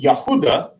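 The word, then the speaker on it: יהודה: and the name uh which we render as Judah in English in Hebrew is Yahuda and Jews again an English term would be Yahoudim in Hebrew.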